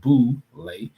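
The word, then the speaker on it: Boulé: success of black men, known as the Boule, pronounced Boule.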